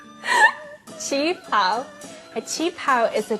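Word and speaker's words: qipao: Chinga pao? Chi pao.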